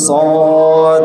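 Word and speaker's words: ص: এরপরে কি পরে যে হরফটা থাকবে সেই হরফের উচ্চারণ হবে এটা হলো এরপরে যে শব্দের মাঝে সদটা আমরা দেখব শব্দের শেষে সদ পূর্ণরূপে থাকে না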